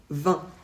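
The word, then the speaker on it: vingt: 20 se prononce toujours 20 on ne prononce pas le T jamais peu importe ce qu'on ajoute après quand c'est 80 on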